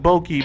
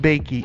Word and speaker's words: Bakey: It looks like Bokeh, but it's actually pronounced Bakey.